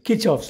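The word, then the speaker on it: Kirchhoff: is let's see what is all about the kirkhof's law or according to your pronunciation kichov's laws going to the kirkhof's law please note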